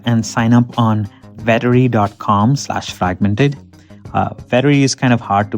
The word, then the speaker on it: Vettery: Vettery is kind of hard to pronounce in audio, but it's actually easy to type.